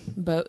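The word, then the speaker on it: Bogge: were pronouncing bogey correctly because the actual pronunciation is kind of icky B bogy bogy we didn't really like bogey it's still bog in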